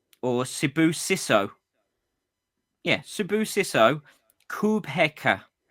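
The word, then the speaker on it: Kubheka: Yeah, Subuyso Kubeka. How do you spell that?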